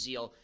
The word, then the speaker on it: Zeel: I think I'm going to get her a Zeal massage.